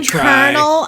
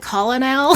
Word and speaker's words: colonel: Yeah, that one's a up colonel. I called it colonel. Yeah, that's how it's spelled.